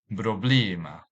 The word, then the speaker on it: problema: This word can be divided into three syllables. Problema. Problema. Since this word ends with a vowel, so the stress is on the second last syllable. So we highlight the E in the second syllable.